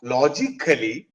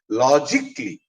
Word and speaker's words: logically: the right pronunciation is logically magically logically. It is not kali it is k l i.